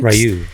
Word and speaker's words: Rioux: I know the X is silent there. Rioux, right? Rioux.